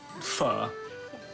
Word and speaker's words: pho: Anything you can get out of this is pronounce it pho. So just think about fire. Okay. And in French. Fur. What is it? It's fa. I know it's not faux.